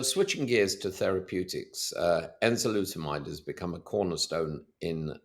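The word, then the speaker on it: Enzalutamide: No, you pronounced it correctly. Enzolutamide.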